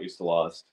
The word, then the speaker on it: Ustalost: Honestly, Ustalost, that's The Spoor of Vipers by Ustalost. You're going to have to spell that for me, man.